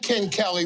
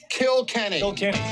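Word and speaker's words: Kilkenny: that beer read it it's not Ken Kelly read it kill Kenny say it 10 times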